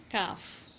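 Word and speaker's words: كاف: And then now kaf. For kaf we have to pronounce it like ak, ik, uk, and its exit point will be when aqsul lisan touches the combination of hard and soft palate.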